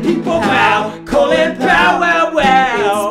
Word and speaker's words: Colin: Yeah, Powell, Colin Powell. He was a military man but didn't believe in war. That's right, people, Powell, Colin Powell, wow. It's spelled like Colin but pronounced Colin.